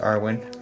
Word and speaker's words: Arwen: It's pronounced Arwen, in case anyone was wondering, because I just learned that tonight.